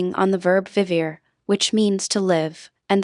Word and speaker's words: vivir: Listen to the pronunciation of vivir. The V sounds just like in English and make sure you pronounce those vowels clearly, as we talked about earlier.